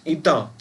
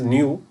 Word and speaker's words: eta: Many of them they pronounce this as new, but that is wrong. Actually new, here I have given new, it looks like v. So this is not new, this is a eta.